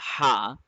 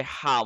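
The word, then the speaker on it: ح: will say the letter ha uh Anaya just yeah touch the touch the bone of your throat in the middle throat and then say ha one more time ha huh huh that's better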